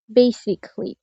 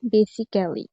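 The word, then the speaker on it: basically: প্রথমে কোন শব্দের শেষে যদি এই ডাবল এল ওয়াই থাকে সেক্ষেত্রে এ সাইলেন্ট হয়। যেমন বেসিকলি। এই শব্দটি যদি আমরা লেটারওয়াইজ উচ্চারণ করি তাহলে হবে বেসিক্যালি।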